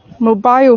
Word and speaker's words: mobile: Mobile phones. Mobile phones. So it should be mobile. So the emphasis on the mobile.